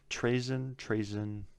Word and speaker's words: Trazyn: Trazyn, that's how you say it.